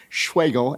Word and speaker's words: Schwegel: a v i d schweigo s-c-h-w-e-g-e-l spelled like schweizo reinfeld bagel I haven't started my own engineering firm but if I do it'll be called Bagel Engineering Services because my name rhymes with bagel this public comment is